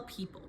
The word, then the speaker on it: people: So that is how we spell people. P E O P L E. The tricky parts are E O saying E and the silent E at the end.